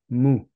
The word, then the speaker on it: Mu: And she's the co-editor of a book of Mu. Did I say this right? You did. I that did. Was well pronounced.